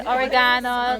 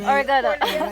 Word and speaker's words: oregano: We say oregano, the Americans say oregano.